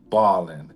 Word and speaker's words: Bawlin: And it sounds the same but they're distinct. They're definitely different because one is spelled b a double b a l l i n Ballin. And then there's another chapter titled balling, and that one's b a w l i n, which is actually the